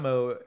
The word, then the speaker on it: Meaux: from the town of moe within BRE and Moe is spelled MEA UX just like how we spoke